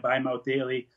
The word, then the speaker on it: Bi-Mouth Daily: And I came up with the idea of Bi-Mouth Daily, where I could take my pill by mouth live daily, but it's spelled B-I, so you could hear from a bisexual mouth on the daily as well.